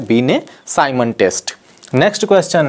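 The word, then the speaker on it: Binet: Alfred पीने से हां हिंदी में इनका हम उच्चारण अल्फ्रेड बी ने कहते हैं इंग्लिश में इनको अलिफ बने लिखा जाता है यह एक फ्रेंड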